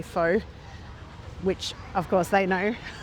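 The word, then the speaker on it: phở: The day before I had fur, which is a way that Vietnamese locals say pho, which of course they know.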